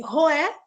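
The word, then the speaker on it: Roeh: Então, nós temos, anotem aí, Roé, se escreve R-O-E-H.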